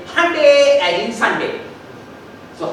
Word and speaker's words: Hyundai: it writes and says hyundai as in Sunday. So how you call Sunday? It's called honey. How do you know it's Sunday? Very good. Excellent. So, Hyundai as in Sunday is the correct pronunciation.